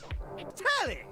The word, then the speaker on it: Telly: Telly rhymes with Nelly. Like, whoa, Nelly.